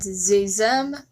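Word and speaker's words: xe/xem: Z here and Zezem which despite being spelt with an X, uses the Z sound, so I'm counting it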